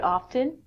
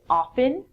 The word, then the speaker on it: often: North America people say often I'm inclined say often it's your choice from this lesson if you wanna say often the T is silent that's perfect so when you're in